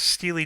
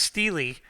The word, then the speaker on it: Steely Dan: you know it was Steely Dan and for one guy and it's still with this girl then somebody just posted some Wikipedia thing that this is actually pronounced Steely and not steel even though the the